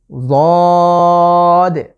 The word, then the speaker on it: ضاد: আমি জিভের যে গোড়ার কিনারা সেটাকে আমি মাড়ির দাঁতের সাথে লাগিয়ে উচ্চারণের চেষ্টা করছি। ضاد ضاد। এই লেটারটি উচ্চারণ একটু মোটা করে উচ্চারণের চেষ্টা করব ইনশাআল্লাহ।